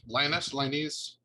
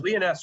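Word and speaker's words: Lyonesse: We have a question about is it Lioness? There's no wrong pronunciation. I'll go. Leoness around the house.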